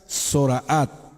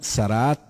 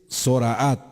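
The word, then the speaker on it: Zoraát: La primera palabra es Zoraat. En otros lados la pronuncian Zaraat o Zarat.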